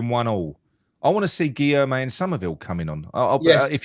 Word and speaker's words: Guilherme: Guilherme.